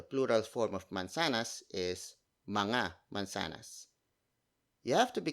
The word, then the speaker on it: mga: Mga, spelled as M-G-A. It's a contraction of the word mga, which is spelled as M-A-N-G-A, and then you add